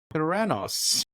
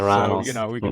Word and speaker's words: Theranos: it's closest to Thanos, so Theranos.